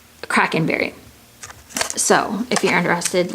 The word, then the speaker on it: Kraken: this is another one I pronounced it wrong in my last video it's Kraken berry I said crank and berry I don't I don't